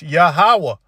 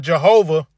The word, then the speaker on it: Yahawah: the Five Points it's yahawah all right it's yahawah all right not Jehovah not yahovah all right again there's no